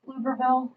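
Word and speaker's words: Pflugerville: recently built in Texas it's lugerville if you don't know how to say it um it's actually down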